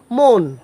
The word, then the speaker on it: মন: দন্তন্য থাকে অনেক ক্ষেত্রে সেই অটা ও এর মত উচ্চারণ হয় যেমন ম দন্তন্য এটার উচ্চারণ হবে মন ম ওকার দন্তীয় মন